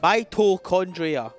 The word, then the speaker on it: mitochondria: yes okay yes but the pacing of it with the the toe and the con makes it so that like you're not fully it sounds like the word to gets cut off mitochondria yes four mitochondria now